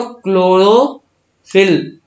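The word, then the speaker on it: chlorophyll: अगर प्रोनाउंसिएशन करो क्लोरोफिल, CHLORO, क्लोरो, PHYL, क्लोरोफिल। ठीक है।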